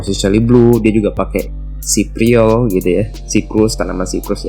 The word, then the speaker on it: cypriol: Oke, jadi bacanya cypriol ya.